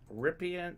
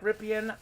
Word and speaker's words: Rypien: in fuego right now ripping rippin minnie nice very nice pronounced rippin that's right mark rippon that's why we're rippin rippin uh bob knows the pronunciations mark rippon looks like rippian but it's ripping washington had some good